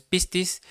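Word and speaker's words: πίστις: Yo creo que usted ya ha escuchado esta palabra de pistis, pero no lleva acento, es pistis.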